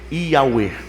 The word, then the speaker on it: Yahweh: Na verdade, no original não está escrito Senhor, está escrito YHWH, que a pronúncia é Yahweh.